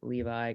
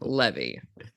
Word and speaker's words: Levi: joining me today is Levi. How are you, Levi? I'm doing well. Or is it Levy? It's Levi, yeah. Okay, I got it. Okay. Some people go Levy, but yeah, Levi's preferred pronunciation, I'd say.